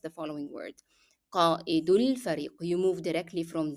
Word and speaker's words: قائد: So when you have this hamza that comes in the middle of the word, you pronounce the glottal stop, the sound of the glottal stop first, and then you make the mark. So it is قائد قائد الفريق.